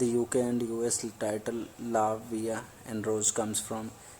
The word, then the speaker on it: La Vie: today we are talking about अ मूवी name लावे and rose so without wasting अ time let's